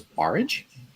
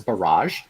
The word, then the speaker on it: Barrage: People pronounce it as barrage. Oh. Yeah, but it's Barrage. but I found out that it's actually supposed to be pronounced barrage because you're barring water from coming in.